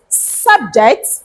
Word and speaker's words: subject: example number three is subject subject subject subject subject when he serving as a noun and subject when he serving as a verb and what does the